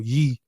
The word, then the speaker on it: Ye: brother for changing his name and you know pronounce his name right so ye um so it's not going to be particularly